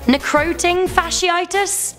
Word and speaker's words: necrotizing fasciitis: Also, for future reference, it's pronounced necrotizing fasciitis." I mean, Sarah, did I say that right? I don't think so. Necroting fasciitis?